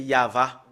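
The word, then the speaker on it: יהוה: on le prononce voilà le fait de le prononcer c'est yava nous allons le faire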